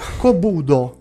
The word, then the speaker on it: Kobudo: Kobudo. Sì, ho pronunciato bene.